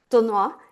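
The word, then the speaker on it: d'Aulnoy: most was the I'm going to mangle our pronunciation because me and French don't get on. Is it Dalnois? Dolnois, yeah.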